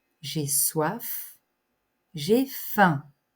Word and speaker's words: faim: F j'ai soif j'ai faim on ne prononce pas le M j'ai faim j'ai sommeil